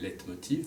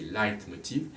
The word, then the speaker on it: Leitmotiv: Et Wagner emploie le terme de leitmotiv, on prononce en français leitmotiv, mais c'est leitmotiv.